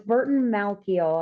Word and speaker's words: Burton Malkiel: So it's Burton Malkiel, I believe is the pronunciation.